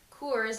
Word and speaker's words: Cours: Cours, like the beer, but it's Cours.